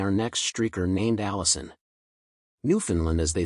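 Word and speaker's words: Newfoundland: time at Ken Jennings New Finland rhymes with understand New Finland understand emphasis on land love the show go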